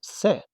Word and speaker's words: せ: This is se. It's pronounced se, just like when you say something, it's a bit more boxy than the others, right?